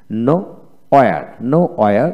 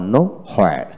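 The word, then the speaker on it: nowhere: আপনার দুইটা উচ্চারণই মনে রাখতে হবে যদি ইংরেজিতে কথা বলতে চান। তারপর নো ওয়্যার আবার নো হোয়ার।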